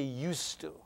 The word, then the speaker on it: used to: one I used to you have to write the d but you don't pronounce it I used to live